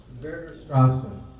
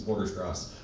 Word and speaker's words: Vorderstrasse: Okay, Marshawn Verderstrasse, please. Did I say it right? It was close. It's Vorderstrasse.